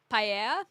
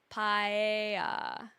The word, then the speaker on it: paella: Paella. I honestly, I don't know how to say it properly. So the LL would be like tortilla, but it's an E, not an I. Paella. Paella.